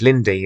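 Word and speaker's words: Linde: that Norah has with Mrs Lind or Mrs Lindy as as some people pronounce and she says that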